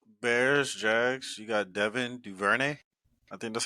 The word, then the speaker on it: Duvernay: Oh, Duvernay.